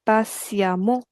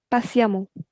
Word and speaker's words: patiemment: It's e n t ending, so we replace that e n t by a m m a n t. Patiemment. That's how we pronounce it. Patiemment.